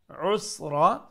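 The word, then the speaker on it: عسرى: The word yusra means easy, and the word that's with a ya, and when it's pronounced with the letter ain, usra, it means hard.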